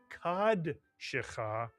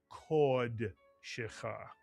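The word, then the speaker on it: קָדְשְׁךָ: And therefore, this would not be kad shecha, but kod shecha.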